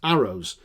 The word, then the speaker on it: Eros: Character number two is Eros, pronounced Arrows, who loses his mother